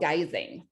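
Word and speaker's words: guising: from intrigue was from a tradition called geysing so this is from scotland in ireland and it's spelled g-u-i-s-i-n-g and that was again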